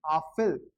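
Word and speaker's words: Apfel: लेकिन इसको जब कलेक्टिवली बोलोगे तो इसको बोलोगे आफिल। कैसे, वो अपन ने अभी सीखा है कि इसको आ पढ़ते हैं, पीएफ को फे पढ़ते हैं और ईएल को अल पढ़ते हैं, आफिल।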